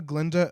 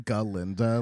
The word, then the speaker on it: Glinda: I like that you're saying Galinda. Like Well, I that's part know. of the story. It's not. It's Glinda, but it sounds like Galinda is more like banana.